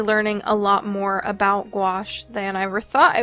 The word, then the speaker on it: gouache: wash of some gouache then wash or some gouache it rhymes and then I will